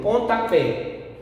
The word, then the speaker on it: pontapé: Por exemplo, pontapé. Pontapé. Pontapé, a sílaba tônica é a última, pé.